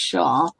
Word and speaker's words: Xia: Tony Shah, spelled Xia, but it's pronounced Shah, completed his takeover of the Villa the day before yesterday.